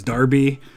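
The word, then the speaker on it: Derby: Buckingham and burning up I know that de RBY is Darby I don't have them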